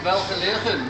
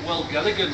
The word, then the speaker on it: Welgelegen: um I'm at the star in welfare living or as I used to pronounce it well together again when I murdered her idea and I'm with